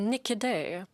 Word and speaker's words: Niquidet: Nikide, am I pronouncing your name correctly?